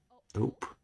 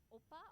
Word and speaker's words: ope: So I said ope, okay, Ope. It's pronounced ope, not opa or ope. Opa. It's ope.